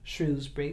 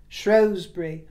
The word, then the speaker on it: Shrewsbury: to mention wasn't I as for the pronunciation it's hotly contested whether it's shrewbury shury or even shrewbury I was saying shury as in Taming of the Shrew and I looked into